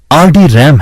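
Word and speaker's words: RDRAM: RD रैम रैम्बस डी रैम, जिसका उच्चारण RD रैम है, रैम्बस इंक लॉस ऑल्टोस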